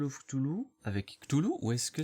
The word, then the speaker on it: Cthulhu: Donc, pour revenir dessus, encore une fois, on dit bien Cthulhu en français, Cthulhu c'est la prononciation anglaise.